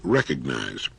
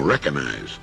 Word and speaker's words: recognize: use of the word recognize time and again I hear people saying recognize there's a letter g in there and it's supposed to be pronounced now you don't have